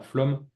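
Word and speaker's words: Flåm: écrit flamme en fait c'est un a avec une petite bulle au dessus je pense que ça a pas été pris en compte ici dans la police d'écriture et donc en norvégien on prononce bien flum et flum c'est donc une un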